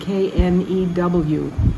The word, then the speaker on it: knew: and that old friend k-n-e-w knew the present form of new is no it's like come and came the vowel changes and if you're an Indonesian and aren't thinking about the past it's so easy to read that no or come when it should be new or came be on